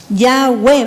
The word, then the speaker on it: Yahweh: Yahweh, ¿ve? Ya, porque la primera letra se pronuncia ya.